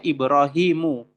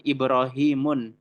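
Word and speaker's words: إبراهيم: Kita membacanya Ibrahimu. Tidak boleh dengan Ibrahimun. Salah. Ibrahimu. Lalu ada Sulaimanu.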